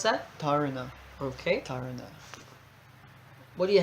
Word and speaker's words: dharana: How would you pronounce that? Dharana.